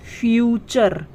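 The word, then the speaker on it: future: है कि जब किसी शब्द के आखिर में यू आर ई आए तो यू आर ई को हम अर पढ़ते हैं ठीक है क्या पढ़ते हैं अर जैसे एफ यू टी यू आर ई इसमें आखिर में यू आर ई है तो इसे हम क्या पढ़ेंगे अर पढ़ेंगे हम क्या पढ़ते हैं फ्यूचर क्या पढ़ते हैं फ्यूचर तो च पे अ की ध्वनि आ रही है ना और र है फ्यूचर ठीक है उसी तरीके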